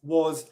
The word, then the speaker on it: was: as in is or has, not the S sound, the Z sound, which is often spelt as an S in English. For example, is, as, was, has. All of these very common words are pronounced with a Z sound, even though they're written with an S sound.